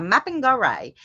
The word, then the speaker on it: Mapinguari: A mapping gorai. It's spelled Mapinguari.